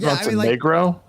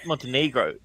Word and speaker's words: Montenegro: called monegro it's just black mountain is it Monro though no it's Montenegro it's how it's said still talking about this